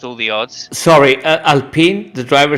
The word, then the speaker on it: Alpine: an italian team it's albino no no no it's a french team and it's pronounced it's pronounced alpine oh it's a finished